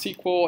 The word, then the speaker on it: SQL: a query language known as SQL sequel so sometimes pronounced sequel SQL and that stands for